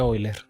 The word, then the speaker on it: Euler: hoy no era Euler según yo pronuncia boiler es alemán sí No no ya Muchas